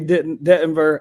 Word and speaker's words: Dettenberg: Avery Dettenberg over at Providence. Oh, Avery what? Dettenberg. Is that how you say it, Dettenberg? Okay. Yes, that's how you say it. I thought it was like the timber.